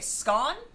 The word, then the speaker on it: scone: Most Americans have only had the dry, hard scones. In England, they are softer and taste nicer. Also, we say it like bon. Oh, okay. Scone?